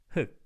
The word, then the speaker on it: 흙: 흑. You can just pronounce this one as just 흑, by the way, in every case.